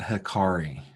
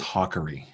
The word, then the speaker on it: Hakari: that is correct so it is not hiari right it is hawy hawy and now when